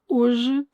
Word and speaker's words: hoje: Desde, hoje, de, manhã. Both desde and hoje have E's at the end, which in Portuguese will not be pronounced. These are mute E's.